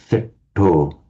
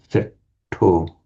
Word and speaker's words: setto: So, it's pronounced as a short e setto setto.